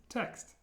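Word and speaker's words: текст: Text means text. And again, watch your pronunciation of ye. It's text, not text. Text. And there's a y sound.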